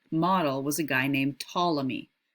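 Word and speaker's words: Ptolemy: was a guy named tmy the p is silent here tmy he resolved that problem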